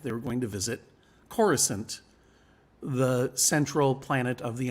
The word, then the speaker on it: Coruscant: We didn't know it was pronounced Coruscant. We all called it Coruscant because that's how Timothy Zahn pronounced it." And one day, George Lucas called us in a conference call and said, "No, it's called Coruscant."